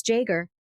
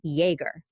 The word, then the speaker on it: Jaeger: Like the popular German beverage. Yeah. Exactly. Yes. Yes. But when I met you 10 billion years ago, all of your rap scallion friends said, "No, it's Jagger.